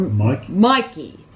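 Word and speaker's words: Michie: It was, or Mikey. But it's spelled weird. It's M-I-C-H-I-E, but I swear it's like Mikey. Yeah, it's something yeah, like but it's just spelled really weird.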